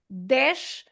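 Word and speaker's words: dez: Then no again the sound no dash. So the Z at the end works the same as the S at the end the sh sound.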